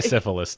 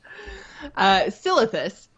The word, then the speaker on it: Silithus: Don't say syphilis. Don't say syphilis. Don't say syphilis. Silithus. I think in my head Scythilis, and that's wrong.